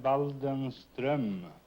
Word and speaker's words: Waldenström: In Sweden, you pronounce the name Waldenström.